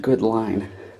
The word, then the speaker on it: Goodlein: Somebody told me it's pronounced good line.